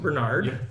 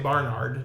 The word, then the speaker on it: Barnard: how you pronounce it Bernard right because I want to say Barnard just because the A's are in there but it's Joe Bernard Bernard gangster Joseph one